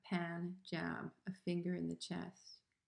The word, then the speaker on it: Punjab: rajput from the punjab which i pronounce poon like poon not poon but pan says the poet short a a pan jab a finger in the